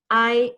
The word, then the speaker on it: hay: there are 14 circles, hay 14 círculos. Hay 14 círculos. Muy bien. La palabra hay, H-A-Y, I in Spanish, that's how we pronounced it.